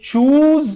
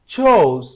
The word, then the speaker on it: chose: चोज, ये चूज की second form है और इसकी प्रोनाउंसिएशन जो होती है वो होती है चोज। व्हाट? चोज, क्या? चोज। जैसे आप चोर कहते हैं ऐसे आप चोज, आगे जेड लगा दें, चोज।